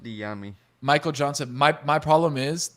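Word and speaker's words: Dyami: It's pronounced Diami.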